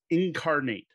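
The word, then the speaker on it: Inkarnate: after this in a way and that is incarnate it's spelled inc i-n-k-a-r-n-a-t-e incarnate this is to me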